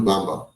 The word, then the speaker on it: Bamba: sh sh AMU amadu shahu B bamb shadu Bamba there you go you said it you said